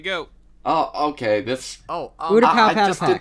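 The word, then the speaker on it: Utapau: No, Who mispronounces Udapow? I don't know. Some Udapu? weird. I've heard people. Autopaw before. I've heard Ute-pow and What? Udapow.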